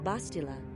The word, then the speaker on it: Bastila: you're assuming that I'm a pan back off bastila I have heard of her bastila they say